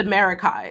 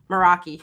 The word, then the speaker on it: Meraki: this is like the America or I always say this wrong it's not America it's Meraki I think moraki yeah